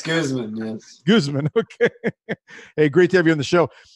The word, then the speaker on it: Guzman: It's Guzman, yes.